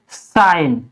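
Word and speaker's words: sign: अब इसमें भी देखिए जी, यानी लास्ट में जी है इसलिए इससे पहले एन आ गया है, तो इसमें हम जी साइलेंट रहेगी, इसको हम क्या पढ़ेंगे, साइन।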